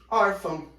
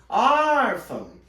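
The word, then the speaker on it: órfã: um exemplo para vocês orfam orfam repara que a sílaba tônica é o or e ele é acentuado então a sílaba tônica é o or e não o fã cuidado com esse daqui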